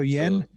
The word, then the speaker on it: Yen: your first name um in english you would pronounce it like a y i'm stressed so yen yeah yes yeah great